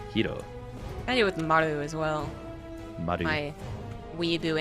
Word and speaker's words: Maru: to say Maru, which Maru. is like a very poor attempt at trying to actually pronounce the R correctly in the East Asian languages, more like an RL.